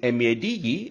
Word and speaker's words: maid: The answer for the question is no, there isn't a difference in pronouncing MADE and the MAID. Both are pronounced in the same way as made.